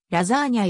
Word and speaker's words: lasagna: 用いとパスタ料理イタリア語の発音ではラザーニャやらザニーに